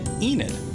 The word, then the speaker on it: Enid: Enid.